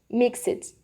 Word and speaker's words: mixed: a gente ressaltar que o som do D não sai no verbo, não sai na pronúncia. Não fica mixed, obtained. Não, é algo bem sutil, é mais um Tzinho no final, um som de t, mixed.